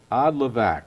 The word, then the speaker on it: Odlivak: Yes, correct. Odlivak. Odlivak. Okay. So, pretty close to pronouncing it right.